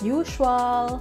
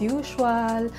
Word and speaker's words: usual: But it's not correct. It should be usual. Usual. Yung S gagawin nating parang letter Z. Z and then letter H. Usual. Usual.